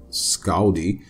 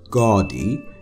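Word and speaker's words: Skaði: let's get into this so Scotty or scauldy pronounced gaudy in Old Norse was a giant s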